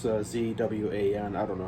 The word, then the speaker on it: Zwan: However you pronounce it. It's Zwan.